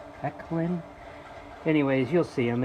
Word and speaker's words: Ekylin: hooked it up um i think the pronunciation is eclin e-k-l-y eclin anyways you'll see them